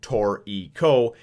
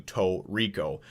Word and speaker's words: Toriko: phonetically they're saying is you pronounce it tor eco as opposed to toe Rico so uh a lot